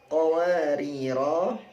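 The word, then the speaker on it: قَوَارِيرَا۠: Qariro Jika berhenti pada qawariro kedua, 'ro'-nya adalah sukun: qawarir seperti itu. Namun jika dibaca dengan wasl, keduanya dibaca pendek. Qawarir qawarir seperti itu.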